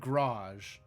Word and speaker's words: garage: I have heard garage as two syllables with an accent on the first syllable like garage and I think I am not a fan.